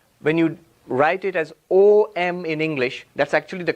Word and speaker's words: Om: But luckily fortunately when you write it as O m in English that's actually the correct pronunciation.